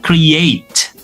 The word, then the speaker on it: create: Nah, tadi sudah ada content content ya, sekarang ada create, create, create ya. E-nya tetap ya, tapi dilafalkan seolah ada di situ.